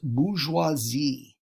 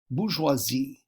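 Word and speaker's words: bourgeoisie: That is pronounced bgeoisi. Bgeoisi.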